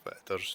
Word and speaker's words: Whitadder: So I'm here at the River Whitadder, which is, or spelt White Adder, but Whitadder's normally how it's said.